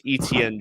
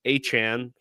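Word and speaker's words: Etienne: So, we'll call him the artist formerly known as Travis ETN Jr. uh Travis Achan. That's going to get that's going to take some time getting used to. You hear Achan, you think Miami Dolphins and and their stellar running back down there.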